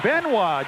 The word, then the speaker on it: Benoit: Jazz it's on David benw b n o i t pronounced Ben I guess that's the uh French interpretation of the I don't know